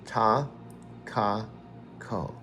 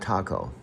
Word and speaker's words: Takako: You've called her taco before, but it's just simply ta, ka, ko. Ta, ka, ko. Takako. Not taco.